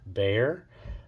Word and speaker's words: Bexar: Today we're going to talk about the Tactile Knives Bear, or Tactile Knife Company Bear, pronounced Bear, but it is spelled B-E-X-A-R.